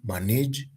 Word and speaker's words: manage: For example, in some cases, and this is commonly tested in KCSE, some verbs have their stress falling on the first syllable, e.g., manage, register, exercise, promise, answer.